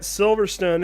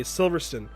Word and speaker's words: Silverstone: like the you know these brits say silverstone that's different silverstone and there's an e there at the end it's silver stone definitely but silverstone silverstone i